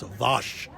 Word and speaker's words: Wos: I was corrected by someone from Poland who got very angry with me about how I pronounce it, and I said, it's Vosh.